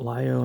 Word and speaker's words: Lio: I think that's how you pronounce it, Lio and not Leo.